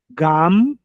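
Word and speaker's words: גם: Eh, gam g m de de mar. M gam junta os lábios para pronunciar.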